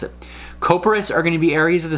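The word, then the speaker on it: couperose: cocoa press sorry I Pross that's how you pronounce it copra SAR gonna be areas of the skin with distended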